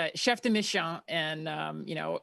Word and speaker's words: chef de mission: How do you say it? I like to say it my my 5-year-old daughter is Chef Dishon, but no, it's Chef Deish.